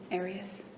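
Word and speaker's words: Arias: I've heard it pronounced about seven different ways. Um, I say Aras as does the rest of my family.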